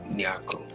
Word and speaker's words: Nyarko: I'll be saying live Q&A on IG featuring Nyarko.